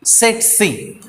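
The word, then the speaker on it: tsetse: e t s e set c now the first t is the silence so set c fly we have to pronounce it like this what is the meaning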